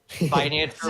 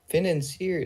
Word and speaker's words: financier: It's like French.